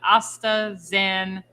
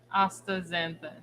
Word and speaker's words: astaxanthin: to have this is how we roughly pronounce it astaxan then still said it wrong probably still said it wrong that's the xanathan i think astaxanthin we're gonna have to